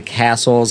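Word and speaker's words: Cassell: They actually published a book in the 1860s called The Castle's Household Guide. And it's spelled C A S S E L L. It's Castle Peter and Gaplin.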